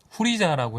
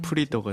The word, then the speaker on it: 후리자: 저도 역시나 해적판으로 접했고 아무래도 후리자라고 해 줘야 후리자. 내 사실 일본어 발음은 그게 맞잖아. 그 가장 근접한 발음인데 우리나라 발음에 조금 더 어울리기 때문에 프리더가 된 거죠. 프리더가 됐다가 그 영어 네임까지 해서 요즘은 프리저 프리저가 이제 거의 최종적으로 통용되는 이름으로 저는 사촌 오빠들도